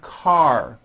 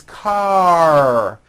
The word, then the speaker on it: car: word open or unfinished like in the word car now you may say ca ending with an a vowel but it's not ca it's car your tongue has to pull back car and